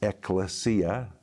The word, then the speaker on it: Ecclesia: when you compound the two words together it's pronounced Ecclesia and it describes the called out ones and